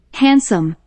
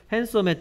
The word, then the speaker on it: handsome: Handsome. 핸섬. 핸섬의 특징은 자, 이 단어를 실제로 보면 핸드섬이라고 읽어야 될것 같이 생겼어. 왜냐하면 핸 하고 소리 안난 D가 있기 때문에 핸. 그 다음에 썸 붙여서 핸섬 됩니다. Handsome.